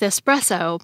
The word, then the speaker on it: espresso: I think people might link the word express with espresso because espresso can be a fast way to get caffeine, which can make you feel faster. But espresso isn't related to the word express. It's related to the word pressed. It's short for the Italian caffè espresso, which the Oxford English Dictionary says literally translates to pressed coffee.